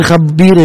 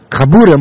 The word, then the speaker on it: Chabura: Most of the Chabira in Yerushalayim, Chabira? How you say it? Chabura.